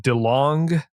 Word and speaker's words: DeLong: They are the owners of, is it DeLong?